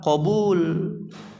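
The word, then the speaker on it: قبول: Ingat ya, dibacanya apa? Qabul.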